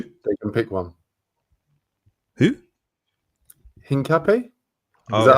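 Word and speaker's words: Hincapié: Hincapi? Is that how you pronounce it?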